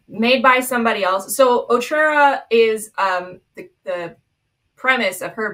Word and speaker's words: Otrera: So there was this reel that was talking about her but pronounced it Otrera. I'm like, thanks, I hate it, we won't be doing that, please. Otrera.